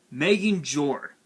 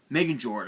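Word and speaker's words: Megingjord: the one copy of nordic relic megan jor megan george i believe is how it's pronounced target one easier or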